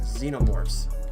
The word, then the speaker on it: xenomorphs: uh the alien race xenomorphs that's technically spelled with an X but it has a pronunciation of a Z.